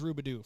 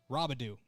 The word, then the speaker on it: Robidoux: It is Caden Harris for the Mount Marty Lancers, and it is Rubidoux for Rubidoux for Rubidoux. We'll get there. We'll get there eventually. Robidoux, third time's the charm.